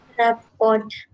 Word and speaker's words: rapport: Rapport. Rappo. T is silent. Rappo.